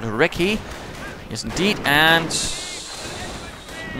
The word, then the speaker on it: recce: Panzer Grenadiers once more engaging the reconnaissance section, the recce, which is rather how the Brits say it, not recon, but recce.